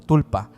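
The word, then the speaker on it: sprul pa: que se le llama el esprulpa, que se pronuncia básicamente como tulpa.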